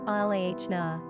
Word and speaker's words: Alana: Pronunciation, Alana.